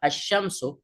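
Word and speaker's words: الشمس: আশামস আশামস যদি মানে এখানে আল্লা উচ্চারণটা আশশামসু আমরা লামটা উচ্চারণ করি নাই ও তামার এখানে উচ্চারণ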